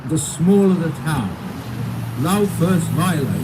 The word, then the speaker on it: Laufersweiler: Laufersweiler. You know, we've got four syllables there.